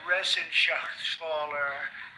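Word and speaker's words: Reschenthaler: Ren Sher you know that resen Sher it's uh that's actually the way you pronounce it you know nobody else gets it right I got it right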